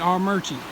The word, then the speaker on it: Armuchee: it coming over the rocks there this is our merchant Creek you're not from North Georgia you'll never look at AR mu CH EE and pronounce it our merchants but that is how it is pronounced we